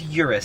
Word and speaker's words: Urus: just feels natural but with the accent i think in europe it's properly pronounced eris so where are the cars obviously if you're italian you're gonna say eris i'm sure but i'm american so i think in america it's urus okay then why don't